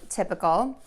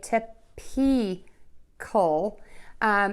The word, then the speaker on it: typical: so the word is typical and we have the schwa syllable in here so the mistake that I hear is most people say tip pea coal and that's incorrect because